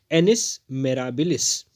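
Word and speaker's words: annus mirabilis: एक बार प्रोनाउंसिएशन को ध्यान से देखेंगे, इसका प्रोनाउंसिएशन है एनिस मेराबिलिस।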